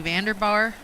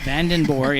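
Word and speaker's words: Vandenborre: And she said, "Yeah, van like the vehicle and den and then bore."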